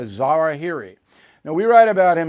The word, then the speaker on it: al-Zawahiri: Now, I know his name is pronounced another way, but I don't care. I'm calling him a Zawahiri.